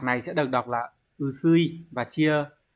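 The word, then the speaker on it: 薄い: Chữ bạc này sẽ được đọc là usui và chia ở dạng bổ nghĩa với động từ kiru sẽ là usu cự, đúng rồi.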